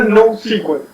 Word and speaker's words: NoSQL: Matías Caputi, ¿cómo se pronuncia esto? En realidad no SQL.